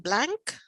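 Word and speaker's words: Blanke: Is it Blank? Blank, B-L-N-K-E, Blank, John Blank.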